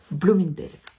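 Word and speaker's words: Bloomingdale's: il est trop fort et comment ça se prononce blind blomindel oui bah oui parce qu'il parle anglais et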